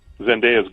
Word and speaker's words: Zendaya: It's spelled D-A-Y-A. It's pronounced how it's spelled, she says.